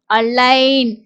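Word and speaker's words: align: என்ன சவுண்ட் வருதுன்னு பார்த்தீங்கன்னா இன் அலைன் இங்க ஜி வந்து சைலெண்ட்டா வருது அதே மாதிரி இந்த வேர்ட் எல்லாருக்குமே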